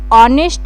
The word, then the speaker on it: honest: ऑनेस्ट यहां पे H silent है। इसको ऑनेस्ट रीड कर रहे हैं।